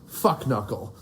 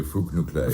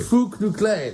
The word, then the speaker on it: Fuknuckle: His name is Professor Aloysius Fuknuckle. Is that how am I pronouncing it correctly? It should really be Fook-Noo-Klay. Fook-Noo-Klay, that's right, yes.